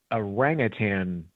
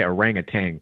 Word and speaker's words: orangutan: So they have this um orangutan complex. I think I used to say orangutang, but I think it's orangutan. I think that's how you pronounce it.